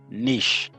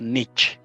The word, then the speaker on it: niche: Number 2, understand your market niche. I know that word looks like niche, but it's pronounced niche.